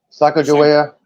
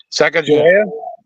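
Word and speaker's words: Sacagawea: learn more about um Eli who help me pronounce her name Saka joa Saka joa Saka joa thank you anyway it was very interesting because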